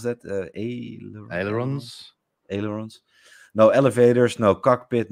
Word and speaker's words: ailerons: How do you pronounce that? Ailerons.